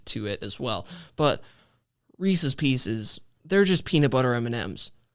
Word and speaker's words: Reese's Pieces: so there's that uh Reese's Pieces average yes that is the correct pronunciation of this candy is Reese's Pieces if you say Reese's just at least say pieces please um that is all